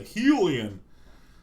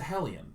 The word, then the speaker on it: hellion: oh yes pyroclastic hellion i almost said helium but it's a hellion not a helium it's a zealot not